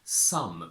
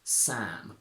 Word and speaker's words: Sam: alphabet but never up a lot of people mispronounce my name and call me some but if I hear some I understand s-o-m-e or s-u-m but my name is Sam a lot of people